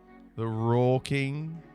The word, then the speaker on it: Rural King: But doesn't that sound like I'm going ROOL? The Rural King? That's how you say it. Yeah, you don't say the middle R. There's another R there.